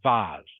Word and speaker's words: vase: Yeah, vase or vase. Usually pronounced vase. But yes, spelled V-A-S-E.